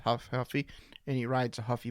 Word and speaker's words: Ruffy: if he was if his name is huffy it's pronounced Huff huffy and he rides a